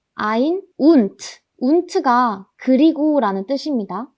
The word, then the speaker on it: ein: 딱 1일 때는 eins라고 읽지만 21, 31, 41 이런 경우에는 그냥 ein이라고 합니다. ein und.